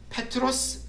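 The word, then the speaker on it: Πέτρος: 저기 나오는 저 표현에 베드로라는 말이 그리스로 페트로스 말로 발음이 됩니다 페트로스 베드로 근데이 베드로라는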